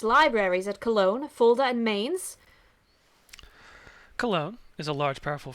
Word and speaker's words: Mainz: Oh, Dirk Pitt River says it's pronounced Mainz.